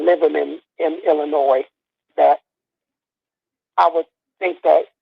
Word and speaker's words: Illinois: And you got to stop saying Illinois, please. It's not Illinois. It's Illinois. Right? No, it's not. No, the S is silent, man.